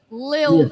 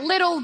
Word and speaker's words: Lil: It's like little baby. It's That's like exactly what it is. It's Little. Like Lil, Isn't that his name?